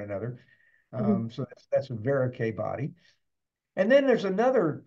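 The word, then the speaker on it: Verocay: news about that is veric rhymes with antonier so you can just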